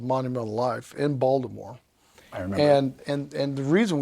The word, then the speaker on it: Baltimore: You don't say it Baltimore, you say it Baltimore.